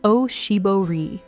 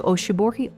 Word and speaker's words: oshibori: It is called an oshibori, pronounced oshibori.